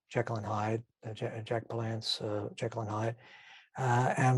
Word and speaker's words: Palance: mr hyde with jack palance i don't know if jack belance's name is jack belan so jack palance yeah i've been this i've been miss uh mispronouncing his name i'm sure everybody knows